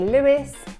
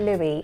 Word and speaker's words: Louis: we pronounce his name, because it could be pronounced in 2 different ways. Some people might say Lewis, and some people might say Louis, and that's how he pronounces his.